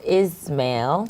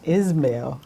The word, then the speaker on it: Ismail: us your name and my name is Camille is mail is mail is mail okay very easy to pronounce now what's that in